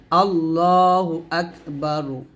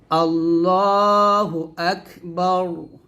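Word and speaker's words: الله أكبر: যাবে তাহলে বলতে হবে আল্লাহ আকবার জবর এরকম রকে মোটা করতে হবে মানে রটাকে মোটা করে পড়তে হবে আল্লাহু আকবার আকবার হামজা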